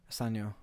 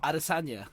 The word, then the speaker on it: Adesanya: Asanya. I was like, that sounded Chinese. Asanya. Adiot. No, what is his name? You say his name. Israel Adesanya.